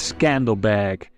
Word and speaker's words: Skanderbeg: Lord Alexander in Albanian this name would be pronounced as Scandal bag his military genius earned